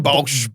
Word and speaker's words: Baulch: Bulch. Bulch. Yeah. This Bolsh bloke I think Duckley wanted king at you from behind me.